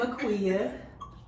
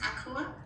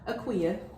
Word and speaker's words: Aquia: I'm Aquia. I see. And yours is Aqua? Aquia. Aqua. Yeah.